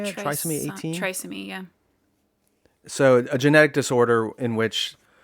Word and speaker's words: trisomy: Trisomy, yeah.